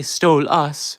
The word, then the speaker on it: Stolas: Well, if I say Stole Us, it's technically my name, but it's spelled Stolas.